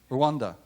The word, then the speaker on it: Rwanda: R for, it's got a silent letter in it. Rwanda.